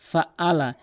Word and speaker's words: فعل: অধিকাংশ লোক বলে ফাআলা ফাআলা, এখানে কিন্তু ফাআলা বলতে হবে। আইনের জায়গাতে অধিকাংশ লোক হামজা এনে উচ্চারণ করে, বলে ফাআলা, বলতে হবে ফাআলা ফাআলা।